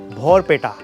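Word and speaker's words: Barpeta: पर पहुंच चुके हैं भोर पेटा भर पेटा कह सकते हैं अगर आप स्पेलिंग प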